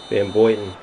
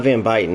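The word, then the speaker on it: Van Buyten: Van Boyten? It's not Van Byten, is it? It's got to be Van Boyten. Or it could be Van Byten's like the American way to say it.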